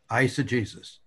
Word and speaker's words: eisegesis: words eisegesis and exegesis ice the beginning syllable is like the eye and ice that it eisah Jesus and the other word